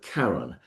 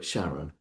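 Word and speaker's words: Charon: a Greek name, and if we were speaking Greek, we would call it Karon, but a lot of people call it Shaon, uh, because of the way it's spelled.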